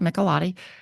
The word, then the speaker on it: Michelotti: I believe, Madam Chair, you are correctly pronouncing it, Michelotti, and he is available this afternoon, should we get to him earlier than tomorrow.